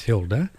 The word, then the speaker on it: Hilde: It's spelled Hilde Larsen, but it's Hilde, and she is in Norway.